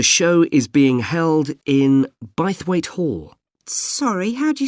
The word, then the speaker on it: Bythwaite: free and the show is being held in bythwaite hall sorry how'd you spell that b y t h w a i t e bythwaite is it easy to find i'm not